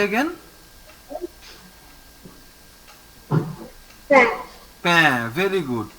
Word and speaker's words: pain: Pain. Very good. Pain means bread. Write the meanings also and the pronunciation.